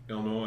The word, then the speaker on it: Illinois: Do you hear him not pronouncing the S in Illinois? Illinois.